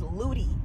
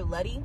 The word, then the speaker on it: Ludy: book her name is Ludy I've been calling her ly but it's like Ludy like cutie and that's how it's spelled I wish I had